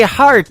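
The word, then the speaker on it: Harte: That is the latest single from my good friend Robbie Hart. It is H-A-R-T-E on her last name, and that is called Heart in Two Places. Yeah, just like your heart.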